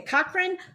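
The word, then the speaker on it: Cochrane: in her hometown of and I want to pronounce this right. Is it Cochran? Okay. Cochran uh Alberta, Canada, right?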